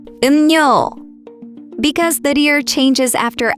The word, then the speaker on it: 음료: For example, 음료 is pronounced as 음료, 음료, because the deer changes after amium sound.